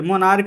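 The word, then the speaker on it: monarch: बताया गया है सी एच का उच्चारण क होता है तब मात्रा में ना एस जुड़ता है जैसे कि स्टमक स्टमक है तो यहां पर एस हुआ होगा ठीक है मोनार्क है तो यहां पर एस होगा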